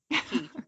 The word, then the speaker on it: Queens Quay: of uh young and queen's key or Queens Quay however you choose to pronounce it torontonians um key definitely key I got corrected hard